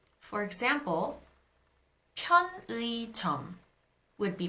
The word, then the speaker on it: 편의점: However, when the 의 is not the first syllable of a word, then it is pronounced as e. For example, 편의점 would be pronounced as 편의점.